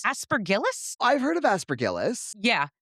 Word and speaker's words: Aspergillus: pronunciations. Aspergillus?